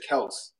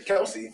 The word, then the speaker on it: Kelce: I think he says Kels. Yeah, I've heard It's Travis his, Kelce. but his name is generally people just say Kelsey because it's the E at the end.